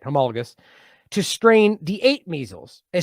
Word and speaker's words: homologous: Homologous.